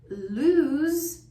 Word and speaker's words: lose: So remember, lose is a verb. It's pronounced with a voiced z sound.